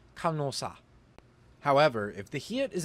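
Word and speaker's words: 간호사: Similarly, this word meaning nurse should be pronounced kanhosa, but it is instead pronounced kanosa.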